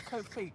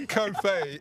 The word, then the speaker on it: Kofi: her the meeting yesterday what's Kofi coffee cof says C it's not kof it's co Kofi it's the same way we